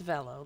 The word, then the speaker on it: Velo: Okay, it's Velo, like hello.